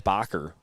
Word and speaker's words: Bocker: in the first half it's not Baker it's bocker so my apologizes Danielle